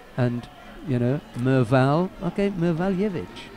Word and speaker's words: Mevaljevic: You think, yeah, that's right, because I didn't have a clue when I first saw Serdan Mevaljevic's name.